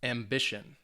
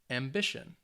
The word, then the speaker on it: ambition: they have three syllables the words end with tion or sion the stress is on the second to last syllable so it's going to be on that middle syllable so let's say these